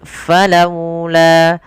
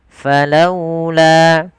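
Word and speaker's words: فلولا: Cara membacanya pun dengan ee apa namanya? Lembut. Falaula. Falaula.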